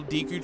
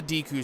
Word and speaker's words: Deku: talking to is the Deku Sprout. And I know I'm already pissing people off because I'm calling it Deku and not Deku, because technically in Japanese it's Deku, but I've always called it Deku.